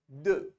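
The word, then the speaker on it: deux: bind uh uh then two is called du du du you round your lips and you say du you remember so t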